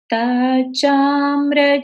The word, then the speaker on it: तच्चाम्र: तच हो गया, लेकिन इसको बोलेंगे कैसे? तत् तत् चाम्र चारु कलिका निकरैक हेतु। फिर से देखिए, तत् चाम्र चारु कलिका निकरैक हेतु। तच्चाम्र चारु कलिका निकरैक हेतु। ठीक है?